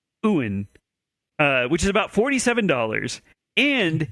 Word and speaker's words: yuan: The woman refused, so the man demanded 300 Chinese yuan, which, yes, Brian, I looked up the pronunciation. Oh, Chinese yuan. currency, and it's yuan, which is about $47.